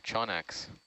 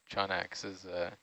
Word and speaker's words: Chaunax: Just wait till you see its relative, Chonax. Oh, Ah. what is that? Chonax is a shallower water. Okay. Well, now I gotta look that up. Anglerfish. Chonax, yeah. I'm imagining like a Pokemon evolution. Yeah. Chonax is one of my favorites, but typically you